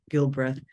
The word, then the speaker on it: Gilbreth: beautifully into um introducing our next speaker Jeff Gilbreth Jeff am I pronouncing your last name correctly that's correct thank